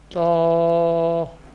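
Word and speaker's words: ط: The next Musta'liyah letter is Ta. Ta. Ta. This letter pronounced from the tip of the tongue and the roots of the upper front teeth.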